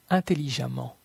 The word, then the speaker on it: intelligemment: La lettre E dans la combinaison de lettres EMM se prononce comme un A. Femme, femme. Évidemment, évidemment. Prudemment, prudemment. Violemment, violemment. Impatiemment, impatiemment. Intelligemment, intelligemment.